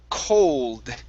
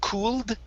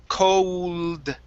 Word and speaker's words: cold: okay this word here is pronounced cold instead of cooled okay it's an o sound cold cold hold there you